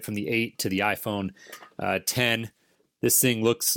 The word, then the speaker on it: iPhone X: got a new iPhone the iPhone 10 I'm told it's pronounced not the iPhone X if anybody out there